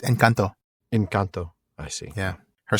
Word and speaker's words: Encanto: So my daughter corrected my pronunciation of it. Oh my! I called it Encanto, and she said, "No, Daddy, it's Encanto."